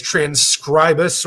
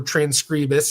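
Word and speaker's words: Transkribus: Uh this is transcribus or transcribus. I asked them what they preferred in uh pronunciation and they're like, "We don't mind either way."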